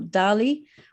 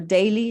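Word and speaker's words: DALY: adjusted life year score or Dali or daily if you'd like to pronounce it that year which has been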